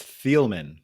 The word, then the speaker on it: Thieleman: pronounce your last name yeah you did great it's thielman Felman okay I did